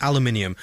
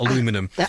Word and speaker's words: aluminium: you pronounced it correctly it is indeed aluminium not aluminum so well done you